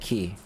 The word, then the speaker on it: Cay: Carnival's Paradise Collection includes Relax Away, Half Moon Cay in the Bahamas, or is it Key? What's different is they have K, right? C-A-Y, but it's pronounced Key.